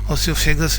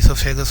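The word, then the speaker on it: oesophagus: की ओर जाता है, जिसको हम लोग ओसोफेगस भी बोलते हैं, इसोफेगस भी बोलते हैं। उच्चारण करने के अलग अलग तरीके होते हैं, लेकिन आप वो साइलेंट रहता है, ई से उच्चारण करते हैं, इसोफेगस बोलते हैं इसको।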